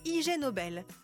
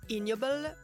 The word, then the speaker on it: Ig Nobel: un prix ce prix c'est le Ig Nobel qu'on peut aussi prononcer ignoble comme ignoble et c'est un prix